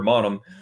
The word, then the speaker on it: Mannheim: They pronounce it Mannheim. Yep. They Americanize it Mannheim, and they say Mannheim too, but a true one person from Mannheim is Mannheim. Oh, right. Exactly, whatever, Mannheim.